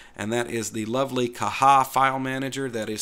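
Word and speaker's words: Caja: that and called it kaja in the past but the corre correct pronunciation is kaha it's based on the Spanish language so one of the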